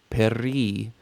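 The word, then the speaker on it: פרי: And it is hard to say peri. I'm noticing p and r next to each other. So peri, practice that one, and you'll really hear the shva when you do it that way.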